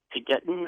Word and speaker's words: Taygetan: And I'm wondering if the Plearan or you said you were the TAYGETAN, I believe is the right pronunciation.